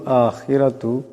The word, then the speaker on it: آخِرَةُ: ইন কানাত লাকুমুদ দারুল আখিরাতু, দার রার উপর পেশ আছে, আওয়াজটাকে মোটা করিয়া পড়তে হবে। আখিরাতু, এখানেও রার উপর জবর আছে, আওয়াজটাকে মোটা করিয়া করতে হবে।